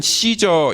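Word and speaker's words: Caesar: 같이 이 아구스 또 씨저 라고 하는거 가이사 라고 하는 것은 그가 사용했던 호칭 입니다 1억 한국말로는 가 회사라고 번역돼 찜한 원래는 씨저 이렇게 발음을 하죠 근데 나중에 그가 얼마나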